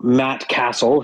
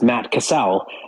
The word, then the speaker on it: Matt Cassel: I heard you know Matt Castle who is a quarterback pronounced Matt Cassell it just drove me